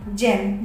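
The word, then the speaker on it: gem: जी ई आर एम, यहाँ पे भी जी के बाद ई आया है तो जा का प्रोनाउंसिएशन हो रहा है। जल मीन्स कीटाणु। जी ई एम, जेम, जेम means होता है कीमती पत्थर।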